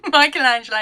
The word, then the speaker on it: Michelangelo: i can't remember first name so i can't pronounce last name michelangelo you said it correctly okay thanks yes i've